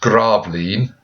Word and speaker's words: Gravelines: Now, if you are in the exam, it's pronounced Gravelines, but you can spell it Grave Lines, Gravelines.